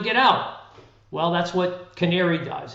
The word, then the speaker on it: Canāree: So our product is a product called Canāree. It's spelled C-A-N hard A R-E-E.